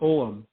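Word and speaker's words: Ogham: you mentioned the word oam and that's what I always pronounce it but U Maria Wheatley calls it omam om it doesn't look like the way it's spelled you know and so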